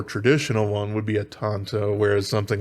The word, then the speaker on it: tanto: really wanted to but as far as the word origin and how you should pronounce it i do believe it's with an ah sound so there you go